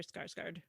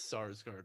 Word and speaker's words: Sarsgaard: My favorite Peter Skarsgård performance. Is that his name? Did I say it wrong? Oh no. It's Sarsgaard, right? Yeah, I said Skarsgård.